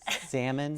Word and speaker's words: salmon: tutoring board so okay salmon salmon a lot of people forget the L what yeah it's not how silent L molasses yes yeah I